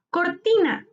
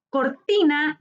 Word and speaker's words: cortina: Cortina. Cortina es una palabra grave. Su sílaba tónica está en ti, penúltima sílaba.